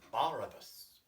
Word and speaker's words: Barabbas: crying and barabbas but in french with the accent on the first syllable which is barabbas and let him